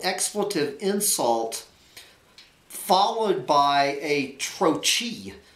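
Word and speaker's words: trochee: You know, a single-syllable expletive insult followed by a troche. A troche is a two-syllable word where the first sound is stressed like puffin or womble.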